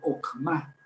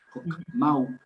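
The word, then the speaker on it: חכמה: H, nada más que en español no suena la H, entonces ahí deberíamos leer Okma, pero no, si la lee un americano o una persona de habla inglesa, leería Jochma o Jokma, pero la K con H suena J, entonces, y luego esa W al final, pues no tiene sentido. Jokmau, más bien Jokma, haciendo sonar la H.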